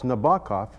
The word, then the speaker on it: Nabokov: little ditty for students to help with the pronunciation he goes the queerless goku of a heron at night prompts nabakov to write this is how he would teach